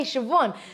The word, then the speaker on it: Siobhan: You wouldn't off the script be able to think, oh, I know how to say Siobhan.